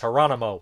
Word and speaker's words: Geronimo: He's like, the G's not how you say it, it's Geronimo and everything.